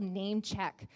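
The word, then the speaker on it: Namechk: all your platforms is a free tool called Name Check. And check is spelled C-H-K.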